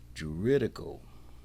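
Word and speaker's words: juridical: Let me let me pronounce this word. Jeritical. That's how you pronounce it. J u r i d i c a l.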